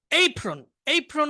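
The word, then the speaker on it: apron: আচ্ছা, বাংলায় ওভেন বা কিছু একটা হবে, কিন্তু বাংলায় ওভেনটা প্রসিদ্ধ, কিন্তু ইংরেজি উচ্চারণ আভন। এইপ্রন মানে হচ্ছে রান্না করার সময় একটা বিশেষ কাপড় পরে না, ওটাকে এইপ্রন বলে।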